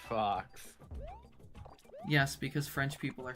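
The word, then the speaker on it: faux: not spelled like Fox it's spelled like f a u x which is pronounced Fox yes because French people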